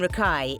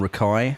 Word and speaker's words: Rakei: Oh, Jordan Rocky. That's what one of these things was saying. I just hit play and it sounds like Rocky.